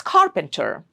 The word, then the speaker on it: carpenter: So when a word has three syllables and in it ends in e r then the first syllable gets the stress. So it's carpenter.